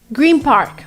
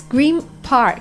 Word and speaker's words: Green Park: Green Park. It's Green Park. It's not Green Park the way it's pronounced.